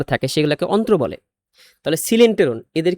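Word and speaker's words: coelenteron: ফাঁকা জায়গাটা থাকে এটাকে সিলেন্টেরন বলে। সিলেন্টেরন কেন বলে? সিলেন্টন দেখো কোত থেকে আসছে। সিলেন্টেরন দেখো এখানে সিল। এটা হচ্ছে সি ওই এল। এটা উচ্চারণ কিন্তু কয়েল না। উচ্চারণ সিল।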